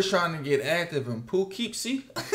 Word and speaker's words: Poughkeepsie: They were trying to get active in Poughkeepsie. How you say it, bro? Poughkeepsie.